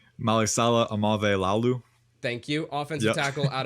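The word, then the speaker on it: Aumavae-Laulu: I'm not going to even ma Malia do you know how to pronounce that last name Mali Salah amave Lalu thank you offensive tackle out of Oregon and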